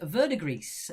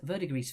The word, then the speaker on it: verdigris: It is verdigris. Verdigris for number 10. You don't pronounce the S.